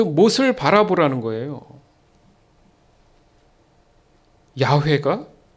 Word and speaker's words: 야훼: 잘 아는 이름이 뭐예요 구약에서는 여호와 정확한 발음은 야훼입니다 야훼 그게 우리가 한국 성경으로 오면서 여호와가 됐는데 원래는 야훼예요 야훼 그 이스라엘 백성들이 발음이